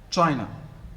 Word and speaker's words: China: the by syllabic words in china which level is stressed the first or second china the first in japan the second and so there is no window first hotel second and so in english